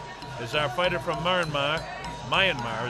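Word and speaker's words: Myanmar: our fighter from marar Mayanmar is the way you pronounce that kma now if somebody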